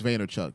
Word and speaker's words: Vaynerchuk: I know I know it's vaynerchuck because I actually like watched a lot of his content for a very long time U and that's how he would pronounce it so I mean I assume it's right like he wouldn't say